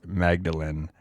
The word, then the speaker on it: Magdalene: uh clarified that yes this is Magdalene as in Mary Magdalene so yeah I